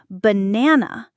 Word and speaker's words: banana: For example, in banana, the stress is on the second syllable, banana. If you stress the wrong syllable, the word can be difficult to understand or even change its meaning.